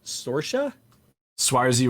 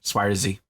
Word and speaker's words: Saoirse: I mean, of all the other movies, and I like how do you pronounce her name? Saoirse Ronan. Yeah, she's great. She's Irish. Swarzy, I believe.